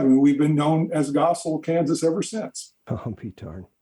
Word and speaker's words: Goessel: was kurt vonn gessel the germans would pronounce it as gessel but he saw the